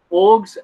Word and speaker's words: AUG: Guys, it's called an acronym. You pronounce the acronym together. You don't say AUG, but you can if you want. So yeah, in Australia, we use the style AUG or style org.